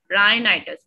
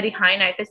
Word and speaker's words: rhinitis: राइनाइटिस, ठीक है, H silent होता है, रिहाइनाइटिस नहीं होता, राइनाइटिस होता है, ठीक है।